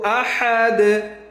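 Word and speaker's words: أَحَدٌ: কুল হু আল্লাহু আহাদ, আহাদ এখানে কি লাস্টে দাল কলকলা।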